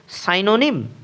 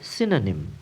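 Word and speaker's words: synonym: তুমি যদি এই শব্দের উচ্চারণ করো সাইনোনিম তবে তুমি ভুল করছো। সঠিক উচ্চারণটি হবে সিনোনিম।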